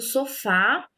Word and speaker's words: sofá: Então, a última sílaba do sofá é a sílaba tônica.